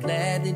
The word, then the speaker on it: gladly: Ele não pronuncia o D, mas ele faz uma paradinha.